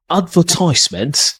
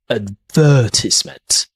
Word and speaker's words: advertisement: Advertisement, that's an American pronunciation. The stress here is in the first syllable. British English, advertisement, advertisement.